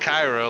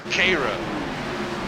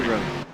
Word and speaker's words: Cairo: We were saying it Cairo, like in Egypt. It's Cairo. Sorry. K-Row.